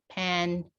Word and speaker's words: pancake: So the E gives the power to the letter here. It makes the A sound. So then it is now pronounced pancake.